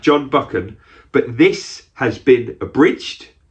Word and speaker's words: Buchan: was originally written by john buckin i think you say it like that john buchan but this has been